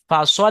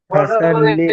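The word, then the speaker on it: فصل: ফাসওয়াল lily, লামের উপরে তাসদিদ আছে, লামটা দুবার উচ্চারণ হবে। ফাসওয়াল লিলি, ফাসওয়াল লিলি, আবার এখানে লাম জের আছে। ফাসওয়াল লিলি রব্বিকা ওয়ানহার। ফাসাল্লি লিরাব্বিকা ওয়ানহার ইন্না সানিয়াকা হুয়াল আবতার।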